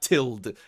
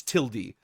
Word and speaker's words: tilde: It's not tilde, it's tilde.